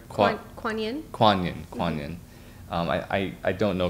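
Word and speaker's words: Kuan Yin: The amount of times that she asks questions that you were saying with Ian and Kuan-Lin. Did I pronounce that right? Kuan-Yin? Kuan-Yin.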